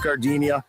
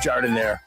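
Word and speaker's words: giardiniera: And guys, when you're at the counter, don't call it Gardinia. It's pronounced jar in there.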